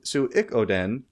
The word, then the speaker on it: Suikoden: So is that how you say that? Yeah, that's how you Okay, said it said. Right? I'll take that. Suikoden tray.